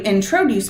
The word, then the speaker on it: introduce: Will you introduce me to your friend? Introduce me to your friend. Which is it? Stress on the in, on the tro, or on the deuce? Introduce me. Unstress, unstress, stress.